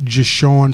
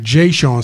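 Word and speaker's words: Je'Shawn: Hooper yeah yeah all right we got Mr Sean am I pronouncing your name correctly Jason all right Jay Sean my apologies welcome to the show sir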